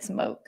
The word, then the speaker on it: Smoke: It looks like smoke. Yeah. Smoke.